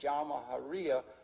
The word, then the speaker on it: Jamahiriya: You'll hear Colonel Gaddafi talk about the Jamahiriya, pronounced Jamahiriya, which roughly translates, an Arabic term, which roughly translates out the state of the masses.